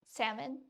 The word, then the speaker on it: salmon: Salmon. Oh, is the L not silent for everybody?